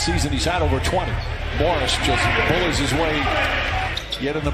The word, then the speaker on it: Morris: fourth time this season he's out over 20 Morris yet in the pronunciation guide it's MMA as Moorish Christ one of the best scorers in basketball